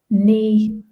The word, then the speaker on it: knee: So we have arm, head, leg, foot, hand, back, knee, and elbow. So just be careful with the pronunciation of knee. Any word that begins KN, the K is always silent.